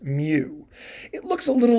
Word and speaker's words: mu: Greek letter mu or like I say it's pronounced Mew it looks a little like an m a